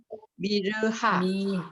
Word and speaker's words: Myrrha: 그런데 라틴어로 돼 있으니까 미르하라고 읽는 거고 보통 영어로 했으면 미르라고 읽고서는 되죠.